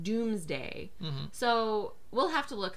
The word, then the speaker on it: Domesday: Either way, there's something funny going on with the language, because we spell it D-O-M-E-S-D-A-Y, so it's Domesday, but I've heard it pronounced Doomsday.